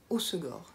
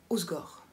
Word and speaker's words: Hossegor: la station de balnéaire hossegor se prononcent hossegor il ya deux aces c'est pas au score ça ça fait très